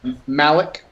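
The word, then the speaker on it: Maleck: is Malik, M-A-L-E-C-K.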